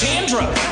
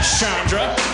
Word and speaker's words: Chandra: you breed that here's what I say it's Chandra not Shandra it's Chandra not Shandra you're going to pronounce it the way that my mama told